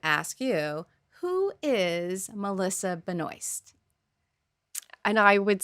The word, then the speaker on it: Benoist: I think you pronounce it Benoast, right? Benoy. Benoy. It should be Benois.